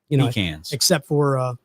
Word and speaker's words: pecans: accentuate the first syllable. Pecans.